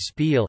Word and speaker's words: spieël: As phonemes, I, and, U, occur only in the words spiel, spil, mirror, and koel, kuel, bullet, which used to be pronounced with sequences, I, and, U, respectively.